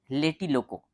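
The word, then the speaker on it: Tlatelolco: सी ओ ठीक है क्या है ये लेटिलोको टी साइलेंट है आप कुछ भी पढ़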